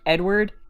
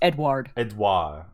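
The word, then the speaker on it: Édouard: moss Edward moss and it's not spell it's not sounded like Edward its Edouard Edouard dois mass it's like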